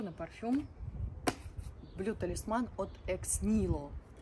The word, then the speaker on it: Ex Nihilo: парфюм BL тасман от x nilo Обратите внимание произносится бренд как X nilo м Итак давайте делать